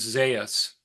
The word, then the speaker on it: Zeus: another piece of that another pronunciation of Zeus is Zas and that comes to